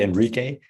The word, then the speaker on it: Enrique: It's actually Enrique, but it's a Latino name. That's why, yeah, it's very hard to get it because you don't pronounce it. It doesn't sound as you write it, I guess.